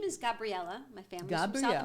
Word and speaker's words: Gabriela: We say, because my name is Gabriela. My family's from Gabriela, South America. okay. And so it's pronounced Gabriela.